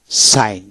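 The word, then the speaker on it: sign: না হয় না জি এন একসাথে থাকলে জির উচ্চারণ হয় নাই যেমন এস আই জি এন সাইন সাইন এস এ আই এন সাইন এখানে জির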